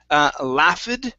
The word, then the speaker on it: laughed: Okay, so here instead of laughed with the ed ending, okay, the GH makes an F sound which is unvoiced, so the ed will sound like a T.